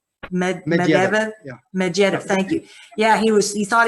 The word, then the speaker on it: Medvedev: I wrote about the Russians disclosing UFOs and talking about the briefcase that how do you pronounce his name? Medvedev? Yeah. Medvedev, thank you.